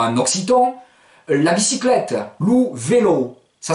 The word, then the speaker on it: vélo: vélo, ça s'écrit V-E-L-O, mais ce O a un bel accent. C'est pour vous dire, méfie, l'accent tonique tombe sur le O. Donc ça va pas donner lou vélo, mais lou vélo.